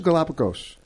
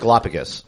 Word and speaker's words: Galapagos: logical outlook you so Galapagos I always pronounce it Galapagus or Galapagos Galapagos tomato tomahto I guess either way I get